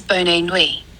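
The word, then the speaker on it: bonne nuit: Pronounce bonui as boni.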